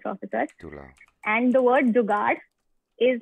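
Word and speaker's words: जुगाड़: chat is like this, jugad. But But is it pronounced? Is it pronounced with an R sound, jugar, or is it jugad? Jugad, D sound. Jugad. No R sound.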